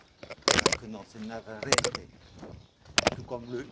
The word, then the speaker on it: Navarrete: Puisqu'en espagnol, il faut savoir que le E se prononce E. Donc, à la française, on dirait Navarrete. Alors que non, c'est Navarrete.